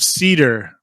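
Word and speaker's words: seidr: guarded by spirits of cedar not cedar as in the cedar tree but cedar s ooh boy s-e-i-d-r depending on how you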